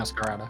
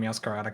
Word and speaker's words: Meowscarada: Yeah, Meowscarada.